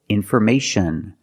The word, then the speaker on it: information: So again, the most common is shun. Example, information, communication.